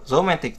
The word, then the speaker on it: romantic: Romantic thứ hai, nhớ luôn.